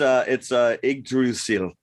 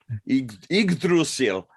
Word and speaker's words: Yggdrasil: I'm not even going to attempt to pronounce the word. But. It's Yggdrasil. Yggdrasil.